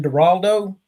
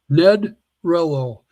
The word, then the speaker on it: Nedrelo: Naldo. Nope. Rhymes with hello. Ned Rello.